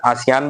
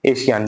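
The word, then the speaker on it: ASEAN: आशियान, आशियान, इसका pronunciation आसियान भी है, एशियान भी है।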